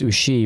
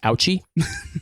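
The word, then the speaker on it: Ouchy: loan main station and in French it's USI but genuinely if you were to look at it in English it's ouchie it's o u c y SOI that's not as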